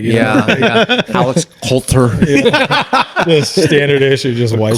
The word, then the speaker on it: Coulter: I was like, "Coulter," and we made a joke. We're talking about like how to pronounce it, how it always gets pronounced wrong,